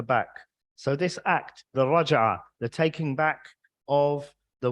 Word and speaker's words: raj'ah: And this act of taking her back is called in Arabic the raj'ah. And you could spell that in English as R-A-J-A-H.